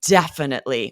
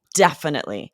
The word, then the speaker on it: definitely: when we think about how does it sound to you if we say definitely or you know itely whereas if we say definitely we're hitting that first syllable definitely and then no matter how